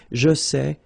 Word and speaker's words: sais: Here you write it S-A-I-T, okay, but then phonetically these three forms are the same, and it's c'est, okay? Je sais, tu sais, il sait, elle sait.